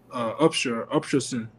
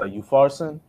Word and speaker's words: Upharsin: And this is the writing that was written, Meta Tekel Upshurson, as I'm saying it right. This Upshurson. Is the interpretation, huh? I think it's a Upharsin. Yeah, Upharsin.